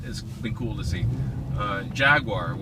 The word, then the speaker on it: Jaguar: Jaguar, or as the Brits say, Jaguar, has done an amazing job with the F-Type.